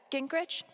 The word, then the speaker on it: Gingrich: steph uh gingrich is that how you say it yeah that's